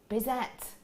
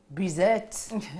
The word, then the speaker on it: Bizet: was written by bizette that's not going to be how you say it though is it bizette bizer like that is that that's an accent isn't it berser does that sound a bit better thank cost you lot